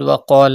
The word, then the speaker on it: وقال: Look at the word وقال الذين. Pronounce qaf with thicker voice because it is a mustaliya letter.